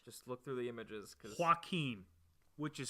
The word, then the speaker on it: Joaquin: I looked up Joaquin Phoenix on Google, and I just feel like all these pictures are different men.